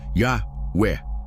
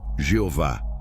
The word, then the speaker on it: Yahweh: O nome é Yahué YvH. Pronunciado Yahwé. Não, Jeová. Não, senhor Yahué.